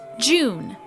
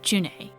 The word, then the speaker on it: June: Since the dawn of the series, people have pronounced this name as June.